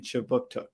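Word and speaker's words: Kjipuktuk: But before we begin, I'd like to acknowledge that Right Start Newcomer Services conducts business in Chibuktuk, which is how you say Halifax in the Mi'kmaq language.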